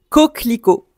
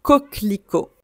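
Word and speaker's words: coquelicot: Coclico. Un coclico. Un coclico. Donc c'est ça cette fleur colorée. J'aime bien la sonorité de ce mot en français. Coco avec le thé muet comme d'habitude.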